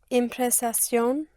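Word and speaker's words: impresión: Impression would be impression. Try again. Impression. Right. Impression. Yes. Yes. And in in Spanish, you only have one S, not you don't double the S.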